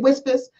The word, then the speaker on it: WSFS: I was like, are you the only person who's never seen the commercial that you say it Whispers? So, you know, so you don't say it like PSFS.